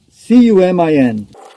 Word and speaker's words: cumin: C-U-M-I-N. I think the proper pronunciation is cumin, but I think that it's a funny word.